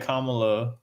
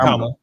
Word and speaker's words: Kamala: Like, which is why Kamala. You said it right. comma, bro. It's a comma. Kamala.